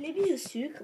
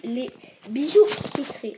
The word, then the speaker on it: Les Bijoux Sucrés: Donc je sais, ça s'écrit les bijoux sucres, donc c'est pour ça que j'ai mis l'accent en anglais. Je sais, ça s'écrit les bijoux sucres, mais ça se dit les bijoux sucrés.